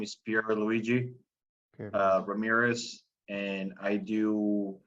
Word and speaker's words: Pierluigi: go by Pier but my actual name is Pierre Luigi uh Ramirez and I do a lot of